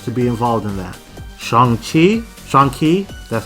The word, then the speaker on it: Shang-Chi: Shang-Chi, that's how it's pronounced, the Kung Fu Master, and a combo pack, Cloak and Dagger.